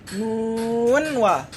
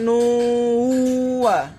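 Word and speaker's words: نٓ وَ: Nun wa. Jadi tidak diidgham digunakan ya. Enggak ada idgham, jadi bukan nuwa, enggak. Tapi nun wa.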